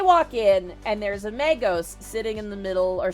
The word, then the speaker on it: Magos: And eventually, Pyriel's like, listen, Dakir, if you want to approach the mango, the Magos? Shit, someone literally just told me how to say it. If you want to approach the Magos, be our guest, but if they attack you,